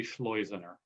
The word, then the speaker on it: Schleizener: is how you remember rhymes with poisoner so please take that with you if you see me on the street don't call me poisoner call me schleizener for about the last